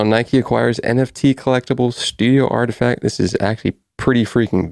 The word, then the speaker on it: RTFKT: saying they acquired artifact artifact is spelled rtfkt the acquisition announcement comes